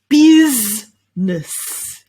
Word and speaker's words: business: or anything like that it's just two syllables here two sounds bizness your turn well done